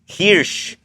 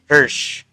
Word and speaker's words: Hersh: It's hirsh. Hirsh ang pagkabasa nito pero pronunciation hersh.